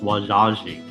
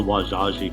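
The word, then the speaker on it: Wazhazhe: french encountered the osage we also call ourselves wajaji and they wrote it down and when they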